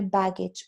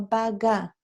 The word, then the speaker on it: baggage: So everything is my baggage or luggage. Yeah, pronunciation. Baggy, baggage, no baga. It's baggage.